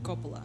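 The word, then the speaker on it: Coppola: wrong people are going to freak out Copa Copa okay Francis for Copa thank you so naturally Copa was not the First Choice others being considered were Peter bogdanovich and Sergio Leon Evans chief assistant insisted that Copa be recommended for director now at this time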